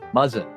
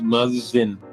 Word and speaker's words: Muzzin: Is it Muzzin? Muzzin. Okay, pronounce Muzzin. like it sounds.